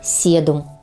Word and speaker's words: седум: окраски цветов и листьев имеет ещё одно название седум и произносится правильно с ударением на второй слог Итак правильное произношение очиток и седум запомните друзья следующее слово